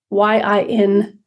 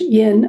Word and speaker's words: Yin: Yin we spell that y-i-n in English Yin or it's pronounced think of the word inside so in so the sound of in make it for yourself